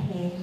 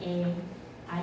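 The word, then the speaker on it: へ: 要念哇了那另外一个叫黑，还黑不黑或者黑那个字会在日语 2 才会出现它不要念黑，它当助词的时候念 A，I U L 的 A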